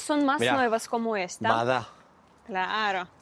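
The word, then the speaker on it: вода: Vada. Claro. ¿Y por qué vada y no voda? ¿Por qué? Porque acá los rusos tienen una regla bastante particular, que la o la pronuncian como si fuese una a.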